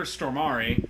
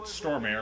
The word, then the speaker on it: Stormare: So the analyst is played by Peter Stormare. I always thought it was just pronounced Stormare, but apparently it's Stormare.